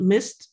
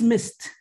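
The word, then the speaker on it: MyST: the abbreviation is uh i usually call it mist but i know that the german colleagues might have a problem with that because missed in german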